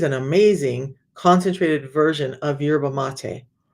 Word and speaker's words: yerba mate: And no, it's not yerba mate. No, it's not. It's yerba mate. That's how you say it.